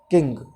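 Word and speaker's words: king: किंग, ये students ध्यान दें, किसी भी स्पेलिंग के बाद, किसी भी स्पेलिंग में वोवल के बाद NG दिया हो तो वो जो NG है उसको हटा करके नेजल साउंड वाला N लगा देते हैं।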